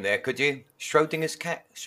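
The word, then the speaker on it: Schrödinger: name there could you schrodinger's it's pronounced yeah a lot of people pronounce it schrodinger and in german sometimes it comes out sounding more like schradinger that would be easier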